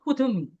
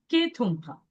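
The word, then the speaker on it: Kuthumi: But the name is written disciples of Kutumi though pronounced Ketuma.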